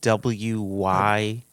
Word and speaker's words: Wyden: member ron i've got to make sure i'm pronouncing his last name right here widen w-y-d-e-n wyden yeah that's what i would go with